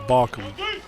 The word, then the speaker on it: Balkam: It's almost like the pitching infraction without the L. Balkam.